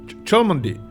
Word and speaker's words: Cholmondeley: What was this pronounced? Cholmondeley.